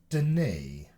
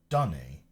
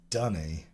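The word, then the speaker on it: D'ni: says the Fisher knife the in-game pronunciation is dunny H I was too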